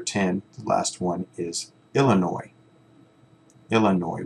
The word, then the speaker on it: Illinois: last one is Illinois Illinois we don't pronounce the S Illinois okay read the questions